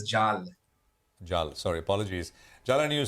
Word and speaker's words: Jal: and further uh and jeal as you said sorry short conversation but as you said sorry just just a clarification pronunciation of my name is Jal sorry apologies Jal and